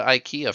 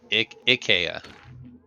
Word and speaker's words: IKEA: the words like no like Ikea Ikea not a long eye short eye Ikea close I'm not Swedish